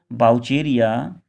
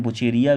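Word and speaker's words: Vaucheria: क्लेमाइडोफोर, क्लेमाइडोफोर या फोरा, बाउचेरिया, जैसे हम बुचेरिया भी बोलते हैं, बाउचेरिया अपने अपने प्रोनाउंसिएशन की बात है, कौन कैसे बोलता है, बोलवॉक्स, क्लेमाइडोमोनास कैरा, ये हमारे ETC और भी हो सकते हैं।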